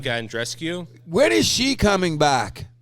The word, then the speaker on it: Bianca Andreescu: Bianca Andreescu.